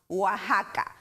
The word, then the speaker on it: Oaxaca: it's anglicizing spanish so x in spanish pronounces with an english h sounds like house oaxaca or with a k